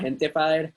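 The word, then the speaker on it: Gentefied: I have been watching the show called Gentified. It's spelled Gentified, but it's Gentified.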